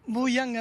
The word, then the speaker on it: Buyanga: J'ai bien prononcé c'est ça ? Buyanga dance School. Boyanga Dan school.